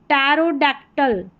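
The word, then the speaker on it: pterodactyl: और यहां पर देखें टैरोडक्टल। टैरोडक्टल। तो यहां पर भी पी जो है वो साइलेंट है।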